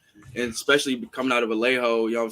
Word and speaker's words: Vallejo: It's pronounced Vallejo. Vallejo.